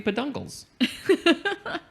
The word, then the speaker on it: peduncles: Peduncles, it's literally ped plus uncles. So how do you pronounce that word? Peduncles? Peduncles. It's got to be peduncles.